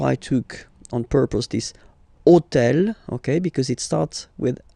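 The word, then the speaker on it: hôtel: So I took on purpose this hotel, okay? Because it starts with ash. But remember that in French we don't pronounce ash. Okay? So basically the first sound of the word is the vowel o.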